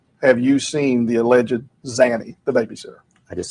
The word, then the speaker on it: Zanny: Pronunciation, sir, is Zanny. No, sir. Zany. Instead of Zenny, what you're saying.